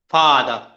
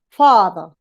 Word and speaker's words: father: father the father father you are making both syllables with the same intensity don't do that far should be a stronger in intensity and that should be like lower as if you were like um father you see there yeah